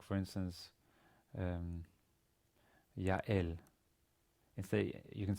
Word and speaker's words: Yael: If you say Yael, the two vowels create a diphthong where there's no stop in between Yael. But if you say Yael, right? Yael, there's a stop between.